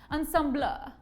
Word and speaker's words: ensemble: it's so classy that you're supposed to pronounce it the french way ensemble and you know the